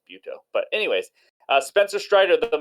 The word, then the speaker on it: Butto: I'm pretty sure it's not pronounced Butto. I'm pretty sure it's Buto.